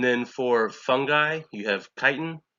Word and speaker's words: chitin: for fungi you have chitin some people say titin I think it's supposed to be pronounced Titan and then for bacteria peptidoglycan